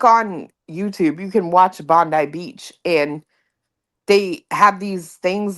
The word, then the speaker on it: Bondi Beach: Dude, I've been watching this Bondi Beach. I think is how they say it. Bondi Beach in Australia.